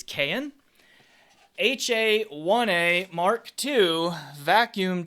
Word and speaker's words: Cayin: about the cayenne and i looked up the pronunciation it is cayenne ha 1a mark ii